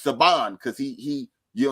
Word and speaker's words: Saban: films you see Saban anything spelled like Sabin but it's sabon because he he you